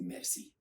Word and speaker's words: merci: The first greeting, which is quite common when you want to say thank you to someone, the word is merci.